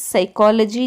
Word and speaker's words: psychology: Knees, psychology, dumb, wrong, right. These are the words where in the knees K is silent, in psychology P is silent, in dumb M is